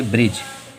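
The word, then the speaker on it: bridge: जैसे कि होती गया बी आर आई डी जी ई, इसमें तो क्या है, डी जो है वो हम लोगों का जी के पहले आ रहा है, इसलिए डी साइलेंट। इसे क्या पढ़ेंगे, ब्रिज।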